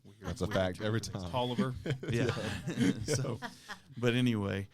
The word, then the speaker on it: Taliaferro: So it's he pronounces it Tolliver. It's the way it's spelled. It looks like it would be phonetically Taliaferro.